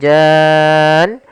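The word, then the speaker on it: الْجَانَّ: Maka waalaqal jan baru masuk ke nun. Panjangkan janya dulu enam harakat baru masuk ke nun.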